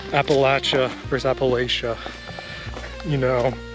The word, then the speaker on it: Appalachia: You know, they say if you're from this area, it's pronounced Appalachia, whereas when I grew up, everyone, you know, school called it the Appalachian Mountains. So I guess it's a quick way to know if you're a local or not.